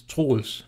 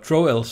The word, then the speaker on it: Troels: in American English well the Danish pronunciation is tools but troels seems to fit English biggest better but in the end trolls is what it usually ends up as how did food art